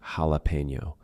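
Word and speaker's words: jalapeño: you will have something like a borrowed word from another language, like jalapeno. We will say that with an H sound when we write it with the English alphabet.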